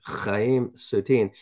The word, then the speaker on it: Chaim Soutine: Utrillo and the Belarusian-born Chaim Soutine. And I'm not pronouncing it that way to have fun. That I guess he's Jewish, right? Yeah, Chaim Soutine. So that is the way you'd say. In fact, I believe Gene